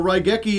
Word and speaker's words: Raigeki: Well, Raigeki is exactly like it's spelled. Rai is R-A-I, Rei, Gek, E. Easy.